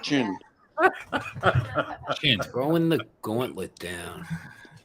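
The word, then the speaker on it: Qin: It's Chin, by the way. Next Tuesday at 10 p.m. Pronounced Chin.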